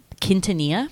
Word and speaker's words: Quintanilla: Quintanilla.